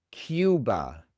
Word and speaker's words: Cuba: El siguiente país es Cuba. En inglés es Cuba. Cuba. La única diferencia es que estamos pronunciando la u con una i antes. En lugar de u esu. Cuba. Cuba.